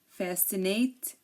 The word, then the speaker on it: fascinate: scent science and scissors we hear that we hear the S but we really don't hear the C so here the C is silent because um like we said it is after an S and before an e or an i again desent Fascinate floresent